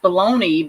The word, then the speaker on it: bologna: you spell stuff like bologna is pronounced baloney but it looks like if you're reading it it looks like it's